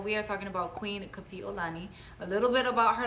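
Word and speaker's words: Kapiʻolani: hear the difference but there is a glottal stop originally when you pronounce her name because it is spelt with an okina between the i and the o or an a posture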